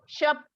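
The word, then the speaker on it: shop: शॉप, श बोलना है, शॉप। आपने भी श बोलना है बेटा, प्रोनाउंसिएशन को करेक्ट करो, श, स नहीं बोलोगे, श।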